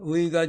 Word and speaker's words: 의: 추측하는 추측하는 특히 특히 인접한 인접한 다음은 의 발음입니다 의가 좀 발음하기 까다로운 네요 첫 음절에 나올 때는